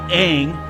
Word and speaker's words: Aang: yeah you'll find out Aang they call him on in this movie you've got a whole Constantine Constantine situation going on now it rhymes with wrong yes but yeah you